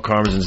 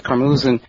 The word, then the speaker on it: Karmazin: Them pronouncing Mel Karmazin's name a little differently.